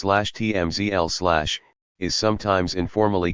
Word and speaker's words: CHMSL: The so-called center high mount stop lamp, or CHMSL, pronounced /TMZL/, is sometimes informally called the center brake light,